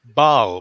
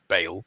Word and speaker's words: Bal: are going on tour with our friends in Bal which I think I'm pronouncing right I don't think it's Bale because that sounds like bale of hay um but yeah so